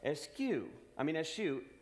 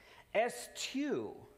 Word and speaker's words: eschew: He looks it up. Eschew, the most often cited pronunciation. Eschew, the second cited pronunciation. Eschew, the third, though not so often, pronunciation.